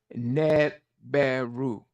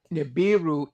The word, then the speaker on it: Nibiru: Because the word in Akkadian is Neberu. But Nibiru is the general term that's used today.